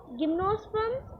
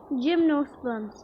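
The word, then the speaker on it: gymnosperms: Okay, जिम्नोस्पर्म्स। मैं क्या पढ़ रही थी? गिम्नोस्पर्म्स। इसलिए कभी भी प्रोनाउंसिएशन देखना चाहिए। Okay, जिम्नोस्पर्म्स। जिम्नोस्पर्म्स ये बोल रहा क्या, मुझे कुछ भी नहीं समझ रहा। जिम्नोस्पर्म्स वो फॉर्म्स बोल रहा है।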